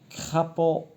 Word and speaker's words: crapaud: Le D, ça ne se prononce pas, c'est une lettre muette.